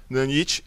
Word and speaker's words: Nanite: Ele tá falando que esse novo sistema Nanite, né, que eu tô chamando Nanite, tem a pronúncia em inglês. Nanite, ela é capaz de renderizar bilhões de triângulos de geometria original, como ele tá falando aqui.